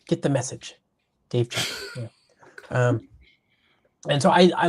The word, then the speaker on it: Chappell: And back in the early 2000s, Dave Chappell, not the comedian, but the his name is pronounced differently. Not Dave Chappelle, Dave Chappell.